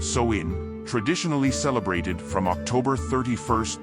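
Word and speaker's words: Samhain: to the ancient Celtic Festival of Sam Hae pronounced soin traditionally celebrated from October 31st to November 1st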